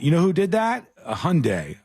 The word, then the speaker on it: Hyundai: know who did that Hyundai and they said Hyundai like Sunday and I never forgot again I said oh okay that's how you do it that's how you pronounce that word or uh Mar no